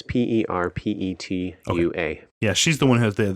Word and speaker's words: Perpetua: I don't know how to say Also her pronounced maybe Perpetua? It's Perpetua.